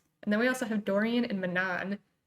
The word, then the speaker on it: Dorian: Dorian, is that how you say it?